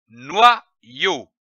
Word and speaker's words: noyau: Lorsque l'Y est placé entre deux voyelles, il se prononce comme un double I.